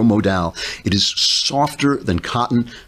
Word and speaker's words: Modal: the sun stuff lensing micro modal rhymes with pal micro modal it is softer than